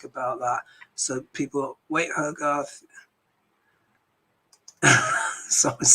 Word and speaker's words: Hogarth: someone's called me hi hogwart uh hogwarth well my name's actually hogarth i know linda g struggles sometimes to say my name so just call me